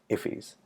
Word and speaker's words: IIFE: invoked function expressions or IIF YZ pronounced if he's and if he is